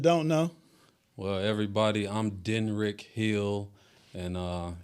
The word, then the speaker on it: Denryc: know well everybody I'm denrick Hill and uh it's spelled d-e-n-r-y-c but it's pronounced d-e-n-r-i-c-k so I'm Den Rick